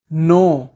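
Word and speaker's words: know: करना decide decide जानना नो नो नो में के साइलेंट होता है उठाना रेज रेज कुतरना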